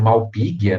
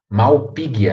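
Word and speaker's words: Malpighia: também temos o gênero malpighi né só tem g h o som é de gui também malpighi a a beleza aí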